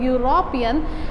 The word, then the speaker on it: European: Problem is this European, when we pronounce the word European, that is not giving the sound of E, this is giving sound of U. It is YU, or you can do YOO.